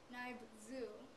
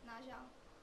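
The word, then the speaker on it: Nyob zoo: For example, to say hello, it wouldn't be pronounced as Naibzu if you read it the English way. It's pronounced as Najang.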